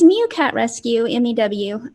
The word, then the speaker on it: Mew: So it's Meow Cat Rescue, MEW. A lot of people say meow, but it's like a meow, but a mew is what I tell people.